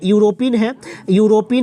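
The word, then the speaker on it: European: देखिए यूरोपियन है यानी कि वायल है, लेकिन जो उच्चारण का प्रथम ध्वनि है वो यू है यानी कि व्यंजन है, इसलिए ए यूज होगा, एन यूज नहीं होगा।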